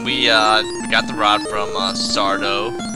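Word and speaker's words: Sarda: got the rod from sardo accent on the dough no mr.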